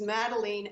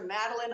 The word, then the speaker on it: Madeleine: My name is Madeleine, and I try to help people. It rhymes with Dean, Madeleine Dean. But I'll answer to Madeline.